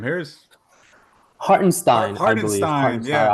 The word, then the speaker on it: Hartenstein: They picked up the Knicks center, how do you pronounce his name? Harris? Hartenstein, I believe. Hartenstein, Hartenstein, yeah, Isaiah Hartenstein.